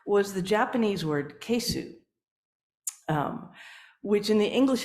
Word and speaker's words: keisu: say it in Japanese you hardly pronounce that U it it becomes almost